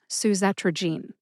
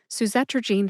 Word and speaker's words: suzetrigine: Susetrogene has four syllables. They are sue as in jernavics soothes pain, z like zest, t like trigger, and gan like the word gan. G e n e gene as in genetic. Put all four syllables together and you get susetrogene. Emphasize the second syllable.